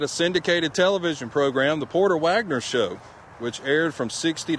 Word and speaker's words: Porter Wagoner: Wagoner had a syndicated television program, The Porter Wagoner Show, which aired from '60 to '81.